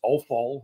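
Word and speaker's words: offal: uh the kind of the ancient Anglo-Saxon term for for it is AAL which kind of rhymes with awful and so people are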